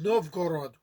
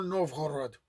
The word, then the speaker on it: Novgorod: wealthy trading city of Novgorod, or Novgorod, which is the pronunciation I prefer.